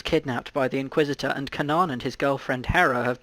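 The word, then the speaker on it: Kanan: n chew the find it's pronounced Kanaan it has 6 reviews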